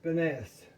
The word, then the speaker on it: Pfeffernüsse: finesse uh spice cookies that's spelled with p f e f f e r n usse and it's finesse like I told you